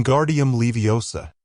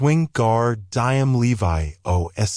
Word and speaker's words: Wingardium Leviosa: arms like a windmill you're saying it wrong Harry heard hermion snap it's Wing gar diam Levi o make the gar nice and long you do it then